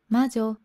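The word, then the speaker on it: 魔女: Et comment ça se prononce? Majo.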